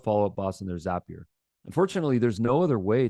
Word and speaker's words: Zapier: It's pronounced Zapier, not Zapier. We know that because the founder told us it's Zapier like happier.